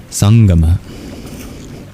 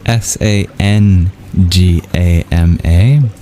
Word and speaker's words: sangama: The word of the verse is sangama. It's spelled in a few different ways due to a phone that doesn't quite exist in English.